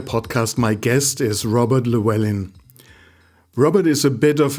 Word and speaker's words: Llewellyn: word my name is klaus this is robert llewellyn and this is the 2.5 innovator podcast robert